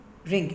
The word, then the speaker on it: wring: ring, ring, इसमें W silent है।